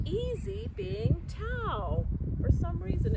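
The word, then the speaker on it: Thao: And her name is spelled T-H-A-O, which sometimes might look like a different pronunciation. And this is a real story about a woman named Tao.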